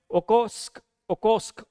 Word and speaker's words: Okhotsk: This Okhotsk plate, if you look into it, is pronounced like that. ठीक है? Okhotsk.